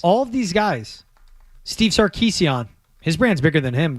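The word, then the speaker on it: Sarkisian: Got to pronounce it the Armenian way, by the way. Anytime. Is that Is that like the proper any Armenian last name? Like it's Kardashian. Yeah, it really is Kardashian.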